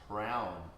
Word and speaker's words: Hraum: And the mantra here is Hraum, H-R-O-U-M.